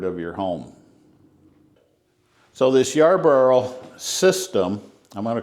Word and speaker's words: Yarbo: What you see in front of you is the Yarbo, and I can say it properly, Yarbo.